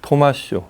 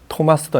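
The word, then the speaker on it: Tomasz: 그래서 두 아들 이름이 하나가 폴란드 이름 토마슈, 하나 토마스도 아니고 토마슈예요. 이 폴란드 발음이라.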